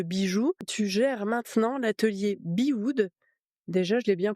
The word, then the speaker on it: Bewood: À la base fondatrice d'une marque de bijoux, tu gères maintenant l'atelier Bewood. Déjà, je l'ai bien prononcé?